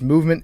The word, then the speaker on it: MVMT: clean original design that we love mvmt is pronounced movement it grew into one of the fastest growing